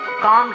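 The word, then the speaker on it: comb: कंघी को इंग्लिश में कॉम कहते हैं। कॉम। यहाँ पे आपने बी को प्रोनाउंस नहीं करना है, बी को साइलेंट रखना है।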